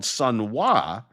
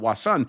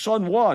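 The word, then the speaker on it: Sun Wah: There is, interestingly enough, a place on Broadway called Sunwa, not Wasan.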